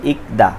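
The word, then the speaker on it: 읽다: এখানে যে রিউল আর গিয়ক আছে, এখানে রিউলের উচ্চারণ হবে না, গিয়কের উচ্চারণ হবে। তাহলে ইকদা পড়া।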